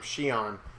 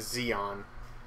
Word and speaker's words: Shion: there's a character named Shion who thank God for watching those customers cuz now I know her name isn't the Xeon I've been saying it wrong for